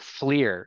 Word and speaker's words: FLIR: We call it FLIR is the way you pronounce that acronym.